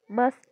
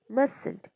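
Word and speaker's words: mustn't: माय हंट माय हंट मस्ट नॉट मसंट मस्टंट T silent करायचाय एम यु एस टी मस्टंट नाही म्हणायचंय मसंट म्हणायचंय त्या ठिकाणी टी सायलेंट आहे प्रॅक्टिस करायची आहे जास्तीत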